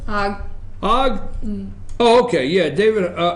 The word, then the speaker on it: Hogg: Now show David, is it Hogue? How's he pronounce his name, Amanda? Hogg.